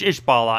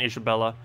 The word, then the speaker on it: Ishbala: But yeah, it's Ishbala, not Isabella. I always pronounce it incorrectly. I keep adding an A that isn't there. Actually, I add a whole syllable that isn't there. And a letter. I add a letter and a syllable that doesn't even exist within the word.